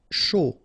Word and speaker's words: chaud: Chaud. Final D not pronounced, and then when you combine this C and H, you get the sh sound. A and U, O. Chaud.